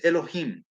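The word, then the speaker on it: אלוהים: say english jehovah and the other one is pronounced elohim and it has the punctuation marks of the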